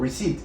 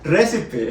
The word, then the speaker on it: receipt: Los manes lo que hacen, los manes repiten la palabra y te dicen, oh, por ejemplo, decir un recibo, receipt, because al principio yo decía recipe, es como que receta.